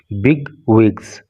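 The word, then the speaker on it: bigwigs: देखिए बिग विग, इसका pronunciation पे आप ध्यान दीजिएगा, इसको बोलेंगे बी और इसको बोलेंगे वी, बिग विग्स।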